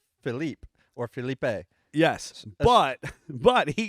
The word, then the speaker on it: Philippe: Whether you're French, And- French Canadian, whatever, it's spelled like Philippe or Philippe. Yes, but he goes on to tell us that his pronunciation is actually Philip, and he spells it out phonetically for us, and FILL up UP Philip.